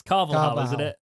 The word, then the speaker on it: Carvalhal: carlos carlos this week i can never pronounce his his second name properly that's even worse than i was going to do it jake carvalhal it's carvalho i appreciate you trying i